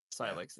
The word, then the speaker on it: Sylux: Past that, or sorry, it's not Silent. I believe it's Sylux, if I'm not mispronouncing Si- that right. yeah. Sylux. Yeah, I was saying it wrong, but as far as